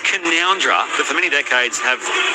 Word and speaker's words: Canowindra: From Beck, who says, "Hey boys, it's pronounced Canoundra, but for many decades have non-local radio peeps said Canowindra.